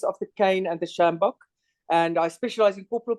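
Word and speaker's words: sjambok: more about judicial caning and how do you pronounce it Sam samjak can you say that word again yes the shambok shambak okay which is something that I wasn't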